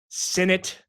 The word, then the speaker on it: Sinnett: Reed Sinnett rhymes with in it to win it.